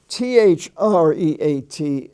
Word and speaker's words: threat: sweet it's pronounced sweat t-h-r-e-a-t is pronounced threat like a like a short e uh the word